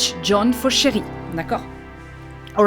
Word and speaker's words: chérie: It doesn't change the pronunciation. It is still pronounced chérie, chérie, chérie, and it means